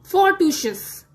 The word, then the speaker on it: fortuitous: सबसे पहला वर्ड है फोर्टूशियस। फोर्टूशियस की स्पेलिंग है FORTUITOUS और इसका मतलब होता है लकी होना, बहुत ज्यादा किस्मत वाला होना।